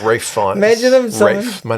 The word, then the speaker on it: Ralph: Imagine him Rafe. My name is Rafe. Fuck you, I'm not Ralph.